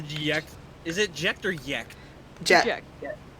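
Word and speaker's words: Jecht: Is it Jekt or Yekt? Jet. Jet. Jekt. Okay. It's pronounced similar to jet.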